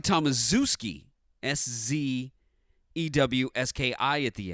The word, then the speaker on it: Tomaszewski: deadline it looks like Tomaszewski s.z EWS ki at the end in fact in college they pronounced it that way to have a nickname of Zeus for him being the big